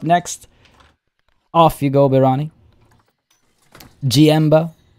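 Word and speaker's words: Jienba: off you go birani gmbo i assume is how that's pronounced that's gmb starting with a j-i-e-n-b-a 4-20 and umbara as well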